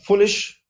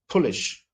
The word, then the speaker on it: foolish: not able to uh foolish F becomes pish p p polish it's